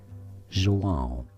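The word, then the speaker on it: João: Joan. It has a nasal sound at the end of it.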